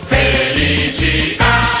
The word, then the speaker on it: Felicità: Felicità, ta, ta, l'accento sulla A.